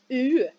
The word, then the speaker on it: eu: Mais avant, bien sûr, on va commencer par les participes passés de avoir, qui est eu. J'ai eu, tu as eu, c'est E, U, mais on prononce U.